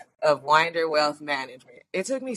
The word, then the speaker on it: Winder: Today, we're joined by Dia, or Danielle, aka Dia Winder of Winder Wealth Management. It took me so long to get that right because I used to say Winder, but it is Winder, okay? Say it right.